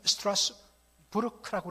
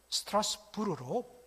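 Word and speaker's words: Strasbourg: 그 당시에는 이 스트라스부르크라고 해갖고 독일어권이었습니다. 그런데 이것이 독일과 프랑스의 접경 지역에 위치한 도시다 보니까 지금은 프랑스에 속해 있어서 스트라스부르로 프랑스 불어식으로 그렇게 발음해서 스트라스부르라고 그렇게 우리가 발음할 수가 있습니다.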